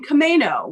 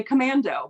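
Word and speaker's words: Camano: out in Washington in commo which I still think is far more fun to say commando but I'll say it correctly commo Island I hope you all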